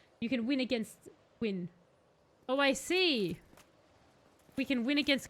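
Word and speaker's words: Gwyn: a special move set his name is LW but it's pronounced like it rhymes with win you can win against win oh I see we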